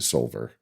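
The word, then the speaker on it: Soulver: Like if you've heard us talk about it, you've never checked it out, you should just go look into Solver. And it's always like, it's spelled weird, SOULVR, I believe is the spelling.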